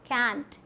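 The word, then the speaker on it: can't: बन जाता है ये कैंट या फिर कांट, दोनों ही प्रोनाउंसिएशंस होती हैं।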